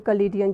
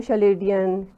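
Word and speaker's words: Chaldean: वैसे लोग उसको शलेडियन चलीडियन इस तरह से भी मतलब वो नाम प्रोनाउंस करते हैं। लेकिन वो असल में सीए की साउंड के साथ है तो फिर इसलिए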